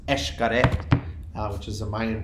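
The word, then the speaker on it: Xcaret: it's spelled X C a ret and it's pronounced H correct which is a mining pronunciation and it's one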